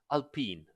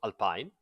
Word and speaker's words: Alpine: little I'll pin because it is pronounced ALP in not Alpine so the little al